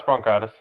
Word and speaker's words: bronchitis: No, it's bronchitis.